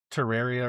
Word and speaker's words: Terraria: Taria. Yeah. Terraria or something like that.